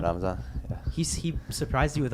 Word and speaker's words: Ramzan: Ramzan? Ramzan, yeah.